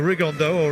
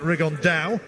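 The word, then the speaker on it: Rigondeaux: he's talked about fighting rig on though or as he's correctly pronounced with the uh spanish accent rig on dao and no two absolute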